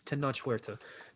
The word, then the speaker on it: Tenoch Huerta: It's Tenoch Huerta, but he is close.